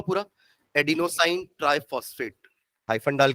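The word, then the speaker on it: adenosine: इसका full form भी लिख लो पूरा, एडिनोसाइन ट्राइफॉस्फेट, हाइफन डाल के एडिनोसाइन, स्पेलिंग ADENO, एडिनो हो गया। देन साइन, साइन है, शाइन नहीं है, SINE, ठीक है।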